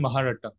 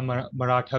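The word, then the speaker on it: Mahratta: अगला है हमारा केसरी एंड महारट्टा, या मराठा भी इसे आप प्रोनाउंस कर सकते हैं।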